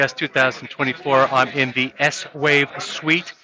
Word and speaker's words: Swave: It’s CES 2024 and I'm in the Swave suite. (pronounced as one word that rhymes with Shave) They're having their little reception right now – beers, chocolates and Holograms so let's talk about Holograms.